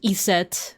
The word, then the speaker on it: Iset: Iset, which is the Egyptian pronunciation or one a proposed Egyptian pronunciation for the name Isis.